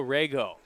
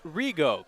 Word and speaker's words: Rigo: This is the left-hander Joshua Rego. 01 slider popped up. Foul and out of play. I'm in danger. Or make that Josh Rigo. Correction on the pronunciation.